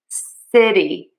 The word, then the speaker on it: city: For the sh in shitty, your lips are rounding. So, we're not going to round and say sh. You're going to pull those lips back and say s city city city.